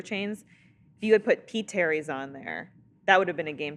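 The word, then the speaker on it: P. Terry's: just pronounced Terry's.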